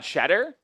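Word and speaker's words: Tschetter: This will have foul is on Shedder? Talk about a way to spell Shedder, by the way. T S H E T T E R. It's European. But it's pronounced Shedder.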